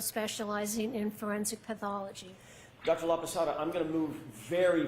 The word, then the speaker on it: Laposata: Laada. That's spelled L A P O S A T A. Dr. La Pasada, what do you do for a living?